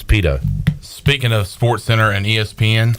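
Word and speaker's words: Pidto: just kept it but it's p-i-d-t-o Pitta Pinto pronounce Pito speaking of SportsCenter and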